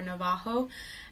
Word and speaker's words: Navajo: Well, we come from the tribe Navajo, as some might pronounce it, or Navajo.